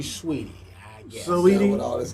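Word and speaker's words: Saweetie: Sweetie. It's spelled like Saudi, but it's supposed to be Sweetie, I guess.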